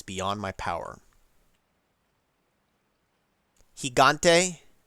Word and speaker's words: Gigante: it's beyond my power higante jigo soft G L he L higante pronounce it like an H hent hello higante huh